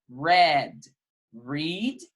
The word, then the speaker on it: read: Read, aqui, ó, a escrita é a mesma, mas a pronúncia é diferente. Então, aqui eu tenho read e aqui eu tenho read. Read, read.